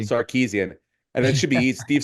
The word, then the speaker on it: Sarkisian: Yeah, Sam Tripoli is going to be upset with you for not being able to pronounce his fellow Armo's last I name know. correctly. Sarkeesian.